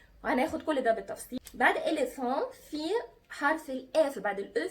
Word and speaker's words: éléphant: éléphant يعني فيل، دونك اون دي éléphant. اخدتوا بالكم نطقت الا ان في الاي اون éléphant، والاو ان كانت اون زي سيترون زي افيون، دونك انا دي اون اي اون.